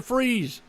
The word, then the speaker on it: Fries: Look, there's Brandon Freeze. I always said his last name is spelled Fries, but he goes by Freeze.